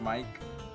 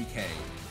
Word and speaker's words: Mike: Well, it's not pronounced Mike, but it's spelled M-I-K-E. But you could still make a shit post off of it. Yeah, but, you know, someone who's just being very head-ass about it, could just call her Michael. Or you could do deep cut of, it's supposed to be Mikkei, but it's spelled together, though, like that.